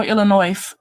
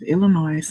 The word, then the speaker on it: Illinois: If we're around a lot of people, I might say, hey, if the S is silent, don't you?